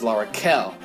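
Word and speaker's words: L'Arachel: Rachel Berry I learned recently that the proper pronunciation is Laura Cal and I should probably start calling her that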